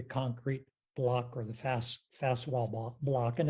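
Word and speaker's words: Faswall: block or the fast fast block and it's spelled f-a-s-w-a-l-l it also has some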